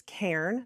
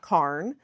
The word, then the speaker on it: cairn: I've learned it's cairn, not carn.